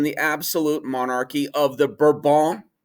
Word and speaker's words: Bourbon: absolute monarchy of the burban kings not bourbon uh that's that's our english pronunciation but burbank kings and that is like